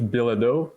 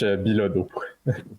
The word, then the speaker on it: Bilodeau: In English, Bilodeau, I guess, and in French, Bilodeau. Bilodeau.